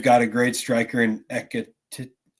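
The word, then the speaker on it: Ekitike: And when it comes to Frankfurt, I do think that they've got a great striker in Ekitete. Is that how it's pronounced? Something like that, yeah. Yeah, like TK.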